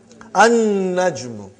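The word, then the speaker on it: النجم: An-najmu. You did not pronounce lam because noon is a shamsi, sun letter.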